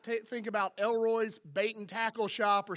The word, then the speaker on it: El Roi: you're GNA be like did he just say Elroy yes I did but that's literally how the name is pronounced lroy but what it means is the god who